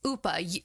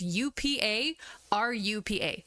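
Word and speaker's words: ウパルパ: it's Upa. So if I do like romanization of how you would pronounce it, it's UPA RUPA.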